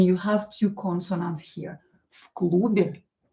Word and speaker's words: в клубе: As you can hear, I pronounce this V as F. В клубе. В клубе. Because I have a consonant here followed by another consonant.